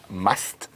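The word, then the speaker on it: musth: in a heightened hormonal State called must and it's spelled m s and the female has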